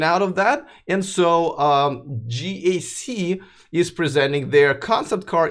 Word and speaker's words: GAC: now all right so what is gak mainly a word I made up it's actually pronounced G AC g AC motors it